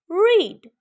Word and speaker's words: read: As I told you, when you have two vowels in one word, the one is talking, the first one is talking, and the other one is silent. So E is talking here. E will say his name, not the sound. R, E, D. Read.